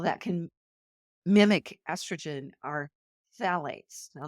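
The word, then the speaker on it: phthalates: can mimic estrogen are phalates now this is spelled pH t h a l a t s but it's pronounced phet used to make Plastics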